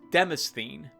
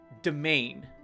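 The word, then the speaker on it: demesne: they don't exist there if i was to read it as i see it spelled i would say demizny but it's pronounced domain which isn't that looks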